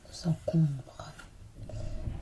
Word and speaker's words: encombre: Sans encombre. Pas de S à encombre dans cette expression qui signifie sans incident, sans avoir rencontré d'obstacle. Pas de S à sans encombre.